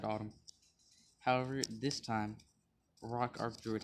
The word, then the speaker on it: Autumn: trust general autumn and you pronounce his name autumn i've watched um kite's video and i realized some people might say a tune it's autumn or maybe that was just